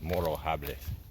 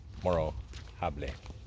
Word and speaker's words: Morro Jable: Again, I'm going to get the pronunciation wrong, but Morro Jable. You don't actually pronounce the J. It's Morro Jable. Morro Jable.